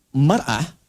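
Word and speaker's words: مرأة: Ya, kalimatnya sama, cuma cara bacanya beda. Al-mar'atu kal mir'ah. Yang satu pakai fathah, yang satu pakai kasrah.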